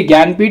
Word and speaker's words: ज्ञानपीठ: देखिए ज्ञानपीठ हम लोग पढ़ते तो हैं ज्ञानपीठ, लेकिन देखिए स्पेलिंग इसकी देख लीजिए, JNANPITH, ठीक है, ये स्पेलिंग ऐसा क्यों है मुझे नहीं पता, आप याद कर लीजिएगा।